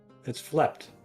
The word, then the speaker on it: flept: felt with a silent P. It is a pool hall. I Flept. knew all along. Felt. He felt. It's flept.